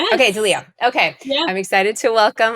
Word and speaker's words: Dileo: Is it Dio? Dio. Dooo. Yes. Okay. Dio.